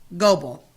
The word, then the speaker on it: Gobble: The name pronounced in English as Gobble and would naturally have been spelled that way.